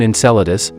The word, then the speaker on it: Enceladus: This is the appearance of Saturn's moon Enceladus, pronounced NSELDS.